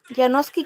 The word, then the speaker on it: Yanovski: Yanovski Canelón, así se pronuncia tu nombre.